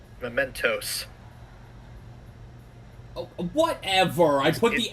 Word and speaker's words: Mementos: Mementos. Oh, whatever. I put the emphasis on the wrong... It's not a fizzy thing. Whatever. I put the emphasis on the wrong syllable.